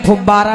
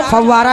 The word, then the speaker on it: फव्वारा: कहा जाता है गुब्बारा कह सकते हो लेकिन फबारा नहीं कहोगे ना और फिर बाकी आपका का मुंह है जो चाहे वो कहो और का हमसे क्या लेना देना लेकिन उसको उसका सही उच्चारण फव्वारा ही होता है फबारा नहीं होता है फिर एक बात आपने